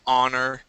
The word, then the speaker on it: honor: doesn't yeah and and we have some words that start with an ho like our honor okay honorable and and that we don't pronounce the h there and so it's hard